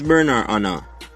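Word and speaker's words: Bernard Arnault: i pronounce his name his name is a french name so this is the actual pronunciation of his name so who is bernard anna berna anna is a french billionaire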